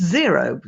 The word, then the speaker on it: Xero: But It's Xero, spelt with an X, Xero, and it's an accountancy and bookkeeping app, and it just keeps everything organized, and it's so easy.